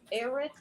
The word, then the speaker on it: Erath: And tornado watch has been extended for Erath. Is that how you say it? ERATH, Texas, till 10.